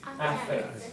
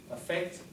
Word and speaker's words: affect: And the problem is they're both pronounced the same way with schwa. Affect, affect.